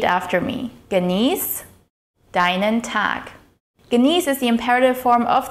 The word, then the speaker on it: genieß: The sharp S at the end of the word is pronounced like the S in the word snow.